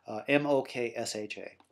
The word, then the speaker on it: moksha: It's a letter that you don't actually have a corresponding sound for in English, but M-O-K-S-H-A.